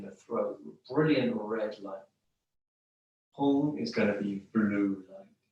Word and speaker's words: Hum: Hum, we can spell it H-U-N-G, if you like, or H-U-M, with a dot underneath the M.